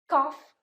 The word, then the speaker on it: cough: Number 2 is off. Cough, trough. Cough is to cough.